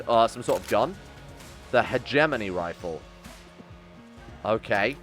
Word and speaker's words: hegemony: The hegemony rifle. Okay. Could also be pronounced hegemony. I've heard hegemony more, but that might just be the British pronunciation.